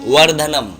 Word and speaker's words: वर्धनम: त्रयंबकम यजामहे सुगंधिम पुष्टिवर्धनम अब यहां पर बहुत से लोग बा का उच्चारण करते हैं वर्धनम नम नहीं यहां पर वा का उच्चारण होगा वर्धनम उरवा रुक्मी बंधना मृत्य